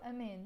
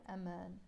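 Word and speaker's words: أمان: man is safety but i pronounce it in real life amen okay so amen not a man in lebanese we pronounce it amen with the safety so literally look what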